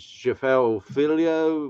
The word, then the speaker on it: Jafel Filho: He is Portuguese, so we pronounce the J. So he's Jafel Filho versus Daniel Barres.